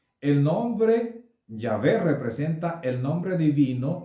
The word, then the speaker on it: Yahvé: Allí dice, además dijo Elohim a Moshe, así dirás a los hijos de Israel, Yahvé, lo pronuncio de esta manera porque aunque está escrito de otra, y esa palabra entonces tiene una letra pequeña, una letra A pequeña en la parte superior derecha.